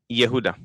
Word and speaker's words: Yehuda: Yehuda? Did I say it right this time? Yehuda. It's just the J pronounced it as a Y.